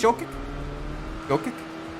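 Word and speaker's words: Jokić: But I think it's Jokic. Like the J-O is Y-O. Jokic, as in kitchen. Okay, close. Hitch. It is a soft C.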